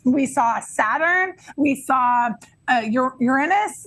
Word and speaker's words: Uranus: Yes, he taught us how to pronounce it. Uranus.